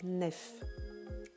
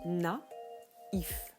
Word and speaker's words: naïf: la syllabe par exemple comme dans naïf s'il n'y avait pas le trait main sur le i ça se prononcerait nef alors que ici on le prononce n'a ivw pareil pour héroïque qui